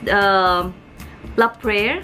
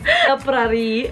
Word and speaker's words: La Prairie: Ano? Mami, nag-practice tayo. La Prairie. Yeah. So, FYI, puro La Prairie to. Ni-research ko pa kung anong pronunciation. Kasi tawag namin dito, La Prairie. So, it's called La Prairie.